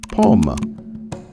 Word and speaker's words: pommes: In French, that would be, je veux 2 pommes. Notice how the E and S in pomme are silent.